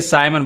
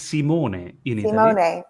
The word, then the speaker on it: Simon: as you pronounce it most people say simon but it's simone oh simone i like